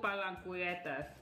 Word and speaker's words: Palanquetas: Rico Palanquetas. Thank you. That's how it's pronounced.